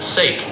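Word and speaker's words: SAIC: GM has a successful partnership with Chinese company SIC, pronounced Sik, and what appears to be a mutually beneficial relationship. GM got access to the world's largest car market. Seikk got Western technology and together they've sold millions of cars in China.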